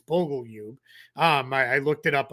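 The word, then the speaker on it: Bogoljub: Um as they're coming it I I promise it's not Bogle Jub. Um is that's how it looks, but it's Bogleub.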